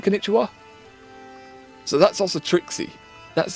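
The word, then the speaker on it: こんにちは: That wa, it's like English. They've put, it's pronounced wa, but it's ba, the character in konnichiwa.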